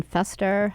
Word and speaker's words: Fester: to eat no fester hello did you say that directed no Fester it's not a New York accent thing it's just how it's spelt I'm pretty sure when